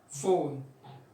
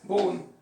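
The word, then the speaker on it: phone: خلاص يبقى فون، فوتو، elephant، جراف، جراف، فون، فون، ما اقولش بقى بون، لا، فون، فوتو، elephant، جراف.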